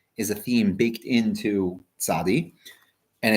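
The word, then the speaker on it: צדי: The tzadi, the letter tzadi, because it flows into the letter kuf, meaning kuf is the next letter after the tzadi, so it's very often pronounced tzaddik.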